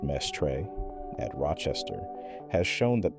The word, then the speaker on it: Mestre: A separate set of studies led by Humberto Mestre, pronounced Mestre, at Rochester, has shown that the driving force of the whole system is the pulsation of the cerebral arteries.